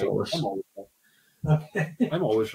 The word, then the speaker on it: Solist: No, it's Solist. It is Solist, isn't it? Yeah. Did I say Solist? I did say it right. Yeah. Soloist. No. Right, anyway. It's not. You would think it might be Soloist because they name a lot of their whiskies after musical things.